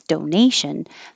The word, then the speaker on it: donation: or donkeys donate donate but if the word is donation the shun makes the syllable before stressed and now it's donation ask this is such